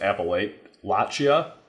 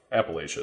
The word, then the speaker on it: Appalachia: fall while Appalachia right I've heard people pronounce it appal laa this past week and I think that's wrong Appalachia is what I've always called it that's all I've